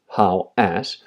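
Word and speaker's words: Hawass: because there was a a chamber there zawi how as and that is how you pronounce it how as um went in there um he physically went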